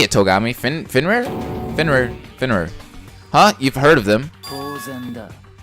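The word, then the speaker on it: Fenrir: Finrir.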